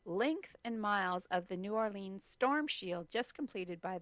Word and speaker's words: New Orleans: And as I'd like to see New Orleans, it's not New Orleans, it's New Orleans. New Orleans. Got to say it like you're there, right?